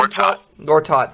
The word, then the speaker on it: Gortat: cannot say his name um has is averaging Gortat thank you is averaging 12 uh 12 points